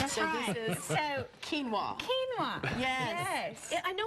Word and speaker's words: quinoa: doing something that we had a hard time pronouncing but it looks amazing so this is so quinoa kinoa yes yes I know it's super healthy for